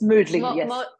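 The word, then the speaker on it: Mödling: again in Vienna or modling is that how you say it yes yes moodling moodling moodling so that will be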